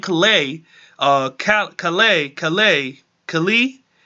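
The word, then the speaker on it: Calais: a Cal Cal a Cali Cali it's a the S is silent I remember watching it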